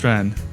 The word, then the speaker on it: Hulstrand: podcast about Paris let's get into it Janet hrand how you doing fine thanks for having me here how's my pronunciation of your name oh it's beautiful in